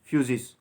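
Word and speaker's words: φύσις: अब इसको प्रोनाउंसिएशन अगर अपन करेंगे तो उसका प्रोनाउंसिएशन होता है फ्यूजिस, और इसका मतलब होता है नेचर।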